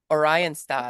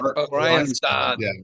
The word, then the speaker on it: Oranjestad: Oranjestad. Oranjestad. Which which which folks means Orange City. Yes. And I that's what our cab driver told us that's how you say it. Oranjestad.